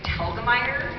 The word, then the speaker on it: Telgemeier: It's Telgemeier, which rhymes with the name Helga and Tyre. So Helga, Tyre, Telgemeier.